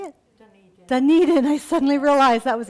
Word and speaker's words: Dunedin: number i counted up 17 books her novel doomed in how you say it Dunedin i suddenly realized i was a Scottish word